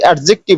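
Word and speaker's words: adjective: আমরা যেটা বলি অ্যাডজেক্টিভ, আসলে ওটা কিন্তু অ্যাডজেক্টিভ না, ওটা অ্যাডজেক্টিভ। ডিটা কিন্তু একটু সাইলেন্ট থাকে।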